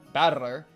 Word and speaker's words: Battler: Battler is made up of the characters for fight and person and it's pronounced battler.